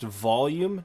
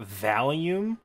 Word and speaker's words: volume: nobody told me um the thing that determines how loud something is is pronounced volume not valium i called it valium